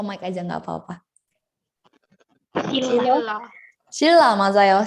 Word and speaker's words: 신라: 신라가 아니고 shilla. Oke, dibacanya itu pakai huruf real double di bawahnya. Kenapa? Karena kalau N ketemu sama R itu dia bakal kayak kalau di tajwid mah idgham bila gunah ya. Dan mati ketemu sama ra, jadinya didoublein gitu kan ya.